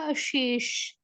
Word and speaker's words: अशेष: ठीक है, तो इसका जो प्रोनाउंसिएशन होगा वो कैसे होगा, अशेष, अशेष। ठीक है, श नॉर्मल श जैसा नहीं।